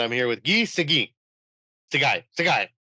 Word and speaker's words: Seguin: Seguin. Right? Seguin. Seguin. It's like the hockey player Seguin, right?